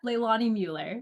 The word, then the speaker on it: Leilani Mueller: Yep, Leilani Mueller.